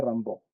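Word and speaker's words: Rimbaud: el legendario Arthur Rambo escribe rba se pronuncia Rambo no Rambo es es otro Rambo Ahí está ellos son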